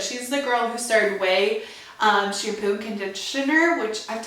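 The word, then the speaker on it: Ouai: And then currently I've been reading Blowing My Way to the Top by Jen Atkin. So good. She's the girl who started Way shampoo and conditioner, which I've talked about. My Way shampoo, it's spelled O-U-A-I.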